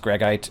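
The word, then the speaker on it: greigite: I think it's pronounced gregite. It's named after a guy whose last name was Greg.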